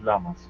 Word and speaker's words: llamas: The pronunciation is llamas.